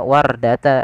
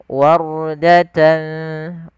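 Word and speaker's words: وردة: yaitu ra yang dibaca dengan bacaan ra tebal, bukan dibaca wardata, yaitu huruf ra-nya tipis tapi tebal. Wardatan kaddihan.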